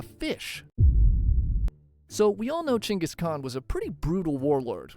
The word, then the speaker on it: Genghis Khan: The worst things Genghaskhan did to his enemies. I said Chingis Khan.